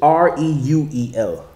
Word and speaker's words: Reuel: That's the only time it's spelt like that. Mm-hmm. There's also Reuel, which is Reuel, and that's what they put that for the Strong's is 87467.